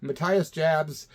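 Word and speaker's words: Matthias Jabs: looked it up man I saw him pronounce his own name Matias Jabs uh mathas Jabs on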